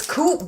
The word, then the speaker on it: Coop: It's Coop, bro. That's literally Coop, but it's pronounced... They just say Co-op. It's not really Coop.